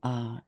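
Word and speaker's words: Ah: So now just keep meditating and imagine on your tongue is syllable R, A-H.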